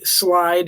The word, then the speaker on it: Slyde: Slide, he's basically a non-stick frying pan. I don't know what that means. That's one of the answers in the survey. Yeah. It's spelled funny, right? SLYDE.